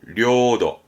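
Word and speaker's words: 領土: 뻔합니다 보시죠 영토가 되죠 영토 발음은 료도 료도 조심할게이 거느릴 영 자는 음독이 료로 갑니다 나머지 대부분 0잔을 내로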